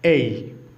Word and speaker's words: A: আজকে আমরা মজার একটি ক্লাস নিয়ে চলে আসলাম।